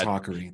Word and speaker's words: Hakari: instant feedback that I got instant feedback it's haery that that is how we pronounce my response to you telling me that